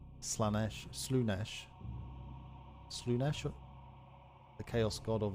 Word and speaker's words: Slaanesh: But it's spelled S-L-A-A. You'd think it'd be Slaanesh. It's Slaanesh. Slaanesh.